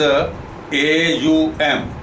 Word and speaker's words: Aum: So there is a one universal sound in the cosmos, which is AUM. I will pronounce it.